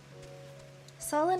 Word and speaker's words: Sullen: Sullen rhymes with Cullen. Cullen is the last name of the vampires from the Twilight series.